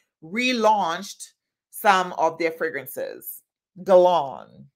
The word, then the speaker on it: Guerlain: Guerlain. I think that's how you say it. Guerlain, not Guerlain, but Guerlain. Teresa says, I love doing the same thing.